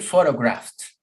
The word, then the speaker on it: photographed: Repeat, photographed. Why? Because it's the sound of the F.